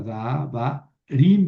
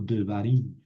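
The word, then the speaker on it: דְּבָרִים: Entonces no es davarim, sino devarim. Esto ya lo habíamos visto.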